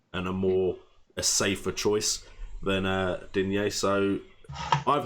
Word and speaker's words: Digne: And I think he's referring to the whole Mendy versus, I'm not entirely sure I'd say his name, Digne. Digne. I think it's argument. Digne. Like dinner. Like dinner.